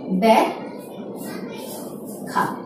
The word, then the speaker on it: ব্যাখ্যা: ব্যাখ্যা। অর্থাৎ ক্ষয়ের সাথে জফলা থাকলে প্রথমে ক, তারপরে ক্ষয়ের মতো হচ্ছে।